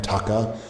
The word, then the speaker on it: Tucker: I'm pretty happy with my name, Tucker. I know, I hear that. It does rhyme with fucker, but so far in